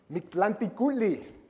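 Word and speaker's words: Mictlantecuhtli: I had to write it out phonetically. Mictlanticutli is the husband, handsome husband on the left.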